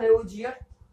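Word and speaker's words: Lavoisier: English में देखो ऐसा होता है लेवोजियर, लेवोजियर बोलते हैं इसको इंग्लिश में, और हिंदी में इसको क्या बोलते हैं, लावाजे, लावाजे, लावाजे।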